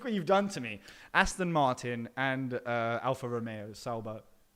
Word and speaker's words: Aston Martin: tracks here is it does it rhyme with Gaston Barton Gaston Barton okay and bobber it just so happens it does actually that is correct Aston